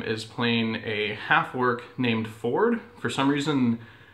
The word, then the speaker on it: Fjord: Travis Willingham is playing a half-orc named Ford. For some reason, there's a silent J after the F, so it's spelled like Fjord, but apparently it's pronounced Ford.